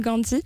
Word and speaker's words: Gandee: Parce que ça s'écrit G-A-N-D-E-E. Tout à fait, ça vient de Gandhi, bien sûr, un personnage mémorable c'est un clin d'œil donc au personnage. Tout à fait. Avec une écriture un peu différente.